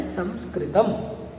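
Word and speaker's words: संस्कृतम्: सी चर्चा करना चाहूँगा कि हम जो उच्चारण करते हैं संस्कृत, तो कृपया आप इस उच्चारण को परिवर्तित करें, क्योंकि इसका जो शुद्ध उच्चारण है वह है संस्कृतम अथवा संस्कृत। यहाँ पर सन नहीं है, सम उपसर्ग है।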